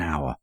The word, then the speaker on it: hour: runs 5 m an hour both forms are commonly used in English remember the H is silent in hour so we must use an not a question six I blank